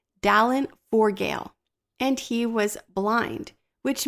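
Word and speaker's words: Dallán Forgaill: to pronounce this, but I believe his name is pronounced Dallin Forgale, and he was blind, which makes the words "God Be My Eyes" so much more powerful.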